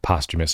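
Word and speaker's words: posthumous: dead in Hip Hop said postumus I'm like oh that's how you pronounce that word um on DMX's pous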